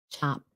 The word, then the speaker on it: chopped: Chopped. Sounds like a t.